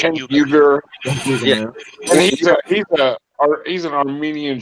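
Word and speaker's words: Uygur: Uyghur.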